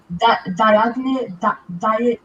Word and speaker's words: Diagne: Those games we need like that goal from West Brom when that how do I pronounce his name? Diagne.